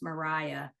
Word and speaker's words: Maria: for the listeners um her name is spelled Maria but pronounced Mariah and then last name